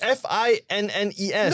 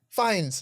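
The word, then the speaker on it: Fiennes: understand the Ralph because people do tend to mispronounce that as Rafe. Ah, but wait, what kind of name is that? It's F I N E S. No, it's not. It's f i e n e s. Fines.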